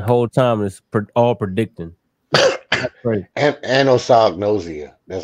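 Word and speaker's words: anosognosia: of results the whole time is all predicting anos noia that's how you pronounce it thank you I had to say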